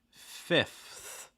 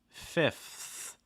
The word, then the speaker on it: fifth: next one we have the f with the th it's like fifth fifth just like we kind of saw in past it's like the opposite same thing we also saw in like 12th um so again fifth fifth going from that f to that th which we've talked about alright already also watch out for that i again short i sound not a long eye so it's not fifth